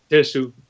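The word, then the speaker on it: Dae-su: And Daesu, by the way, Peter, am I pronouncing his name correctly? Daesu.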